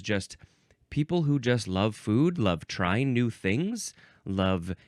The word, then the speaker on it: fo: And I do believe that I have seen this, but I didn't know that they called it a foo dog.